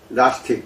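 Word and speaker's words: Gnostic: 극을 앞에다가 붙이는 데요 원래 발음은 나 스틱 낚시 좀 이렇게 해야 됩니다 그래서 영제 의 국자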